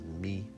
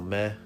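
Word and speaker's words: 目: means eye, your eye, you would think you would sound it as me, but with the e's, you always want to say eh when you see an e. That's how it's said. So meh is I, kind of like meh.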